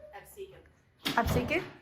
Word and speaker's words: Absecon: Hi Welcome to the Absecon lighthouse! How do you pronounce it? Absecon!